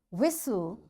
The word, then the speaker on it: whistle: Fasten, castle or castle, often, whistle, soften, hasten, bustle, and gourmet. There are different words, but in all these words, T is silent.